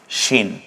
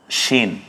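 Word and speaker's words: شين: সিনের একক তালব্যস্য, যেটা যদি আরেকবার লিখে দেখাই, শিন, উচ্চারণটা ছিল শিন, একক হবে তালব্যস্য।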